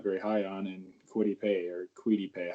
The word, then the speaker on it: Kwity: And I'm going to say they draft a guy that Caleb's not very high on, and Kwity Paye. How do you pronounce it? I think it's just Kwity.